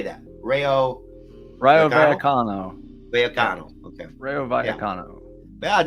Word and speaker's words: Rayo Vallecano: Rayo Vallecano.